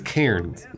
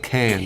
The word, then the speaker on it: Cairns: Wait, she means Cairns, Yeah. not cans. Karen? Well, I mean, I think how she pronounces it is probably how it's pronounced. I disagree. Oh. Okay, fair enough. It's got an R in it, Australians.